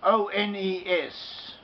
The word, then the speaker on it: ones: Ones, O-N-E-S. From the sentence, the original ones. Ones. Ones is pronounced as ones. Ones. It has, is written O-N-E-S and is pronounced W-O-N-S.